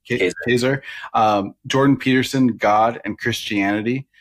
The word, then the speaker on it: Kaczor: Is that how you pronounce his name? Yeah. Kaczor.